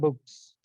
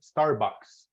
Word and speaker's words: Starbucks: that better that's better so this is pronounced Starbucks no book or anything Starbucks so repeat Starbucks yeah